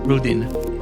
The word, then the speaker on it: Rudin: we talk with Jake Rudin did I pronounce it right Jake very yes it's Ruden it's very close but um you know